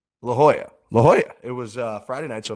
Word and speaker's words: La Jolla: La Jolla. La Jolla.